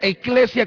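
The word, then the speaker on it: ekklesia: La iglesia, todos dicen, bueno, la iglesia es una palabra griega que quiere decir, que se pronuncia eclesia con doble K, y esto quiere decir congregación o asamblea.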